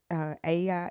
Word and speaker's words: Ea: If you read the Babylonian Aya and Adapa story, it's Aya is spelled EA, and then Adapa is the human in that story, and it's ADAPA.